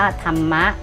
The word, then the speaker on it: ธรรมะ: พรรณนา อ่าน ว่า พรรณนา สังเกต ว่า พยายาม ที่ ใช้ รอ หัน นะ คะ ว่า อ่าน ออก เสียง เหมือน มี ไม้ หัน อากาศ กับ ตัว สะกด ของ คำ นั้น อ่ะ ลูก นะ คำ ที่ มี รหัน เห็น ไหม เนี่ย คำ ที่ มี รร หัน นะ คะ จะ อ่าน ออก เสียง เหมือน มี ไม้ หัน อากาศ นะ คะ กับ ตัว สะกด